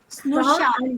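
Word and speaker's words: स्नुषा: Not Ru, Na. Snusha.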